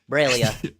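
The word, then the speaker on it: Breil'lya: of uh filia's AIDS I believe it's bra braia braia remember that's how the audio book pronounces it braia braia okay thank you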